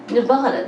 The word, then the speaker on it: Nevada: the word sounded hot and dry I brother Nevada that's how you say it and that's where